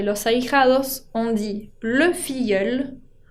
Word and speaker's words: filleul: Y para hablar de los ahijados, on dit le filleul, con la L final que se pronuncia, y au féminin, la filleule.